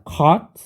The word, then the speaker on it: caught: Ini baca caught, K-nya pakai yang K rada tebel ya, caught.